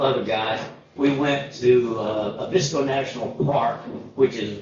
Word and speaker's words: Abisko: I thought it was Karuna, and I thought it was Abisko, but they seem to always put the accent on their first syllable, so it's Kiruna, and it's Abisko. We landed at Kiruna as